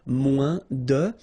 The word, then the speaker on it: moins: Then if you want to say less, it's moins in French, so no discussion about the S here. Don't pronounce it, okay? Moins de, and then you put your noun, que, than, and the rest of the structure.